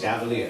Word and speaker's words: Chevalier: How do you pronounce it? Chevalier.